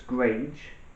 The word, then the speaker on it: greige: It's greige.